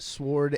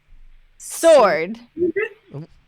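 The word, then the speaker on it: Sword: one went to pokemons sward and shield you see sward yes how do you say it soared do not the W is silent there's arcade yeah sure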